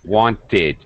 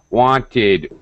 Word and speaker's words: wanted: a vowel sound so if any verb regular verb that ends with t or d will get the extra ID sound all right very good wanted um yeah wanted uh waste wasted anytime